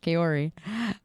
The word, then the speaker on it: Kaori: Is it wrong that you pronounce my name Kaori? No, that's literally the Japanese pronunciation, but I use the English, which is just Kaori.